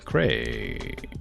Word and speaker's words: Craig: from your text that's be like Craig rhymes with gray yeah Craig Craig I don't I